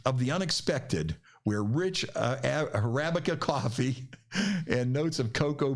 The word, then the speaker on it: Arabica: Arabica. That's Arabica.